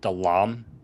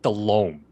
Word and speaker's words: Delhomme: You called the Panthers quarterback Jake Delhomme. Yeah. Yeah. Good guy. No, it's Jake Delhomme.